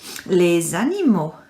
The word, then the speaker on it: les animaux: for our topic is les animo lesani now have you noticed x is silent here liz animo can you repeat after